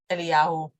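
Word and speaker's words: אליהו: The English script is going to be written the way you pronounce them in English: Achav, Elijah, Naboth, and I will be saying Achav, Eliyahu, and Naboth.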